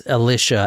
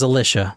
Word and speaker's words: Alisha: I keep calling her Alicia. I'm sorry. It's Alisha, actually. I'm really sorry about doing that. Alisha. Her name is Alisha.